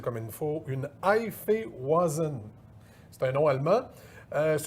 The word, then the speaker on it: Hefeweizen: On dit que c'est là, je vais essayer de le prononcer comme il faut, une Hefeweizen.